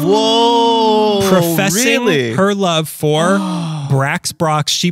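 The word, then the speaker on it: Brach's: Brax Brox. She pronounces it like, not like the guy from Space Ghost. So Brox. She pronounces it Brox.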